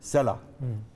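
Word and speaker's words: سلع: एक सला के नाम से पहाड़ है, स्वाद लाम आइन, उसको अरबी में इस तरह लिखा जाता है और हिब्रू में उसकी प्रोनाउंसिएशन है सला।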